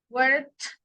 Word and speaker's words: worked: Work, worked, and worked. Estas suenan como una T.